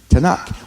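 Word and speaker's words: Tanakh: add A's in there to make it a pronounceable word tanak well Hamas would not be pronounceable if you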